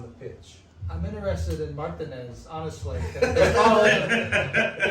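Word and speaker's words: Martínez: So Martinez, and that's how you say it. It's not Martinez. I've never heard I've never heard any Spanish speaker or anyone named Martinez say Martinez. It's Martinez.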